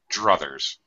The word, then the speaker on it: druthers: It comes from I would rather. All right. Okay. I would rather. Druther. Okay. I got it. Yeah. Okay. So it's like a reduced pronunciation of I'd rather.